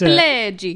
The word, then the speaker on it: Pileggi: Nicholas Pileggi, and I don't know how to pronounce that, I'm riffing. You're Italian. It's Pileggi.